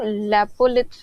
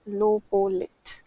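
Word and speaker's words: lopolith: पीपीटी में लोपोलिथ होगा वो लेपोत नहीं है लोपोलिथ इंग्लिश में तो स्पेलिंग सही लिखा हुआ है नोट्स में या पीपीटी में लेपो लिथ लिखा हुआ था तो उसको लोपोलिथ कहते हैं बेसिकली लोपोलिथ तो यह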